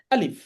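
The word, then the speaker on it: ألف: হরফটিকে আমরা বলব আলিফ উচ্চারণটা হবে উপরের দাঁত নিচের ঠোটের সাথে লাগিয়ে স্বাভাবিক উচ্চারণ হবে আলিফ এই আলিফ হরফের এর আরেকটি রূপ রয়েছে সেটি হচ্ছে খাড়া দাগের নিচে ডানে টান।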